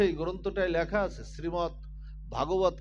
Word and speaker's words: ভগবত: কি শ্রীমৎ ভগবত গীতা, এখানে আকার কিন্তু নাই। এই জন্য উচ্চারণেরও আমাদের এই প্ল্যাটফর্ম, এখানে উচ্চারণেরও আমাদের সঠিকটা আমাদের একটু জানা উচিত।